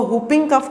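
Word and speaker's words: whooping cough: अब इस वर्ड के जो स्पेलिंग है वो WHO है, लेकिन हम इसको हुपिंग कफ कहते हैं।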